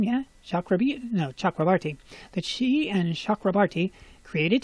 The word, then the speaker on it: Chakrabarti: This is a group that she and Chakrabarti, that's how you say his name, yeah? Chakrabarti.